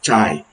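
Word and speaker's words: chi: Kai some people pronounce it as chai ch h i² that's when you use k square and how do we conduct the analysis.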